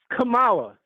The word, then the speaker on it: Kamala: You know how she pronounced her name? Kamala. Kamala. That's how she said her name.